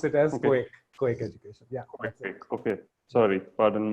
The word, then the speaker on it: KOAK: So we pronounce it as KOAK Education.